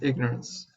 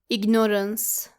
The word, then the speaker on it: ignorance: Our third word is ignorance. We all know how to pronounce the verb to ignore. However, the noun is not pronounced ignorance. It is actually ignorance.